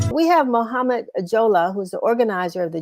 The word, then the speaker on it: Jalloh: Mohamed, Shevry's trying to correct me on the spelling of on the pronunciation of your last name. I see Jalloh, and I see Jollah.